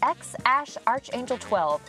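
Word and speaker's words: X Æ A-Xii: If you ask Elon, it's X Ash Archangel 12, but Grimes says it's just X, like the letter X, then AI.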